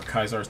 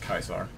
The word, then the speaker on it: Caesar: like Caesar's Legion or kaisar Legion depending on whether or not you want to use the accurate Latin pronunciation or not if you're using the accurate it's pronounced kaisar um then yeah because